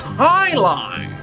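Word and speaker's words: jai alai: What the heck is Jai? It's pronounced high lie.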